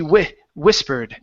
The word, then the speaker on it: whispered: Okay, so here instead of we whispered, give me a short I. She whispered.